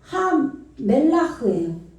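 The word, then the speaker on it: הַמֶּלַח: 예, 하멜라흐예요. 해멜라흐. 하멜라흐. 여기서 정관사가 왔어요. 하멜리면은 여기 맴이니까 미음 발음 나겠죠.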